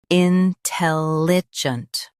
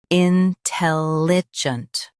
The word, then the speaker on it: intelligent: Intelligent. Now read the syllables shown on the screen naturally. In. Tell. Junt. Intelligent. Stress, tell, and soften, junt.